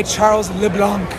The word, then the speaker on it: Charles LeBlanc: And that one was also hit by Charles LeBlanc. And that is how to pronounce his name. I heard him being announced.